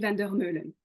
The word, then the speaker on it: Vander Meulen: is a Flemish name so I I say vaner Mullan in wow see that's